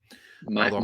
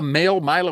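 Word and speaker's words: Maile: No, they signed Luke Mail And actually, I presume that's how you pronounce that. Now I'm looking at it, it has to be. Myla. Myla, Luke It's Myla.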